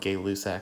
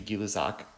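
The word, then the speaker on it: Gay-Lussac: have guillot socks law i know it's spelled gay luck but it's actually gillazak and he talks about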